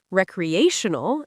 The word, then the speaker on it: recreational: Recreational emphasizes the third syllable, recreational.